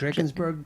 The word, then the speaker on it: Drakensberg: So, I just showed a clip, and I'm probably going to pronounce this wrong. Can you help me with this? How do you say that? The Drakensberg Traverse?